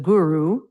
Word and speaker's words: guru: Then the guru the g is a hard g sound and the u is the ooh sound.